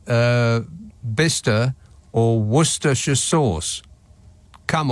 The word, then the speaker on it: Bicester: well just barely yeah why is bister spelled Bicester what what's the C and the e in there for other than to just confuse non-locals Bicester is bister why it's obviously B